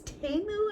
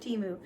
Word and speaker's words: Temu: a few items from I guess TAMU is how you say it instead of Teemu and that way you